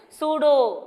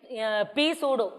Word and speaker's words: pseudo: centrifugal force is a pseudo force how to read this pseudo okay so p is silent here okay so you should not read p sudo okay so p is